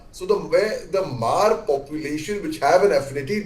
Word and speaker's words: Hmar: lot of Mar population, HMAR, it's pronounced as Mar. So where the Mar population which have an affinity towards Mizoram, but which comes overall under the Kuki umbrella basically.